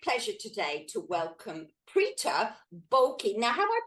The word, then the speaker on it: Bolaky: It's my great pleasure today to welcome Preetah Bolaky. Now, have I pronounced your surname right? Bolaky.